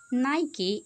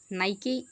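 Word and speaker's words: Nike: कुछ लोग इसको नाइकी भी कहते हैं जो कि गलत प्रोनाउंसिएशन है। ठीक है? नाइके नाइकी नहीं होता नाइके होता है।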